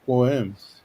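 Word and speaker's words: Sequim: We have Squam pronounced Squims.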